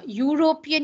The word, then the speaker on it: European: Then European, you never say an. He is a European.